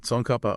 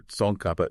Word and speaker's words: Tsongkhapa: Sonapa or Sonkapa if you want to try pronouncing it closer to the Tibetan.